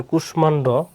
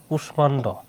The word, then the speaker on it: কুষ্মাণ্ড: হ্যাঁ, মফলাযুক্ত কিছু সংস্কৃত শব্দের উচ্চারণ সংস্কৃত অনুযায়ী হয়, যেমন কুষ্মাণ্ড, কুষ্মাণ্ড, এখানে কিন্তু কুষাণ্ড হওয়ার কথা ছিল না, হয়েছে কি এগুলো কারণ কি সংস্কৃত শব্দ এবং সংস্কৃত নিয়ম অনুসারে হবে, আর এগুলো সব